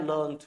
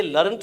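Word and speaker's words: learned: और जो तुमने पढ़ लिया है, जैसे किताब पढ़ लिया, आई हैव लर्न्ड, तो वो बढ़ जाएगा लर्न्ड। तो ये लर्न्ड है और ये लर्निड है, इसे लर्निड बोलते हैं, लर्न्ड नहीं, लर्निड, ठीक है ना।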